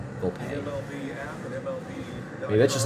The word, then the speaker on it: Volpe: Volpe. There's some pronunciations, like, I've seen a Yankee pronunciation sheet say, have it be VOLP dash, or VOL dash PAY. Volpe.